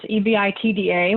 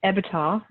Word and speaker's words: EBITDA: have never heard of this, this number, this EBITDA, which I always say it wrong, EBITDA.